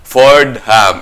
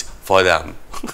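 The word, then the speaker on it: Fordham: to spell it out Ford ham it's But it's foram foram for sa New York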